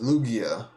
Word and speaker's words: Lugia: The G is silent. It's pronounced Lugia.